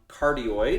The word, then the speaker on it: cardioid: just put it on cardioid is how you pronounce that so those those are